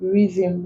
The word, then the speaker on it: rhythm: like where then also after R and G we do not pronounce it given examples rhyme rhythm rhinoceros ghosts get to